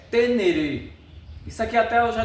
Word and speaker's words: Ténéré: Então, na verdade a gente, nós brasileiros, devido o nosso português, lemos Teneré, mas o nome, a pronúncia é tenereê.